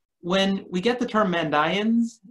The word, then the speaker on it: Mandaeans: we get the term and ions in text and I pronounced that way oftentimes English speakers say mandaeans and that's fine I collaborated on a